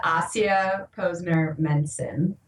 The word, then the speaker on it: Ahsiya Posner Mencin: usually what stumps people so my name is AIA Posner menson AIA Menon okay so so that doesn't sound